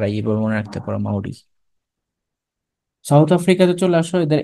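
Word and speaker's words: Māori: নাম হবে তারপর আসলে সাউথ আফ্রিকা হ্যাঁ রাইট মাউরি মাউরি ঠিক আছে এটাই তাহলে মাউরি হলে এম এ ইউ আর আই এভাবে মনে রাখতে পারো মাউরি সাউথ আফ্রিকাতে চলে আসো এদের এডমিনিস্ট্রেটিভ ক্যাপিটাল হচ্ছে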